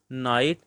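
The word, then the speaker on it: knight: आएगा सी वाला answer नाइट listen क्योंकि इसमें देखें जब आंसर कहा गया है तो ई नहीं पढ़ा गया नाइट का के नहीं पढ़ा गया और लिसन इसमें टी नहीं पढ़ा गया अब इससे नेक्स्ट नाइन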